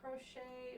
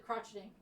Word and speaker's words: crochet: to learn how to crochet or crocheting sounds fun but she um she didn't know how to say it and so she was she said crotching her mom kept saying